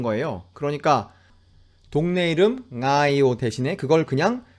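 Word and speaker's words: Ngaio: 이라크 정도가 아닐까 해요 이 단어 앞에 나오는 ng 이거를 틀리게 잘못 발음하는 또 다른 방법은 이 소리를 받침 처럼 만들어서 발음을 하는 겁니다 그러니까 그 앞에 다른 발음을 조금 함으로써 ng 가 이번에는 단어의 시작 이 아니게 되는 것이죠 뉴질랜드 웰링턴 에 있는 동네 이름 나이 5 를 이용하여 그걸 과장해서 한번 해 본다면 않아요 혹은 머 엉 나예요 이렇게 하는 겁니다 그런데 이 소리 이영구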